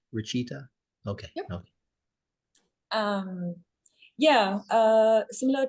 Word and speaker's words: Rachita: And also, am I pronouncing your name right, Rachita?